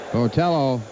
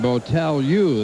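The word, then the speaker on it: Botelho: were mispronouncing his name votel u is the way they say it should be pronounced in portuguese but he's he isn't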